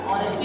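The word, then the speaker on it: honesty: है और अच्छी लेकिन पढ़ेंगे क्या ऑनेस्टी क्योंकि इसमें आगे आपका साइलेंट है ऑनेस्टी मतलब क्या होता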